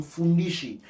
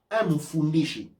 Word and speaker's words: Mfundishi: je pense, allez directement sur le site de Fundishi. Quand vous achetez sur Amazon, vous envoyez l'argent chez Amazon. Mais quand vous achetez sur le site de Fundishi, Mfundishi.